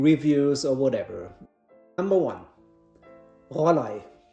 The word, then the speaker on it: Rollei: It's not pronounced Rollei, what I often hear. No, Rollei is totally wrong. It's Rollei, or try to do it like Rollei.